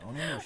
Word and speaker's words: Onimusha: Onimusha.